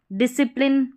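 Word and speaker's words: discipline: अब यहाँ पर SC के बाद I है। एक तो ये हो गया नियम। जब आपने साइलेंट लेटर्स वाला जो रूल देखा होगा वहाँ पर जो है ये SC के बाद C रहता है ना, उसको साइलेंट बताया जाता है। तो दोनों तरीके से आप सीख सकते हैं। वहाँ पर उच्चारण S का ही हो रहा है, ठीक है, S का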